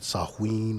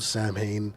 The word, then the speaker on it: Samhain: and that is s-a-m-h-a-i-n i know they call it sahuin or something like that but it's spelled samhain and i'ma call it samhain because i don't have no respect for the thing okay so in 20